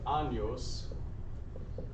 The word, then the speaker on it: años: Años means years, and you got to make sure you say ña, because if you say just without the ña sound, if you say just with an n sound, this is a rude and very strange, not entirely homeschool appropriate question.